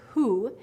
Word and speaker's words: who: minutes so we have the word who and it sounds almost like the uh is silent there um you definitely hear